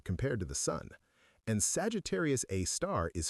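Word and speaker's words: Sagittarius A*: We call it Sagittarius A star, pronounced Sagittarius A star because astronomers are terrible at naming things.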